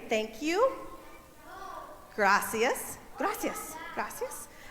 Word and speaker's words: Gracias: Gracias. Gracias. Gracias. And you see the R's? You got to kind of roll them. I'm not very good at rolling my R's.